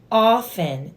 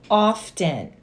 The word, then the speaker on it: often: she said Jess it's often not often the t is silent I was like okay